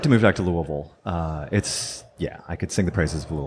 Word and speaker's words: Louisville: They have their logo is the 5 different pronunciations of Louisville. So Louisville is acceptable, but from out of town. So they were trying to welcome you to Kentucky by helping you out, Louisville.